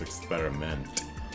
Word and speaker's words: Experiment: Only the stress is on a different syllable, das Experiment.